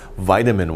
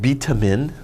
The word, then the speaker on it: vitamin: a name right here vitamin water say vitamin not beta min that's wrong vitamin vitamin okay that's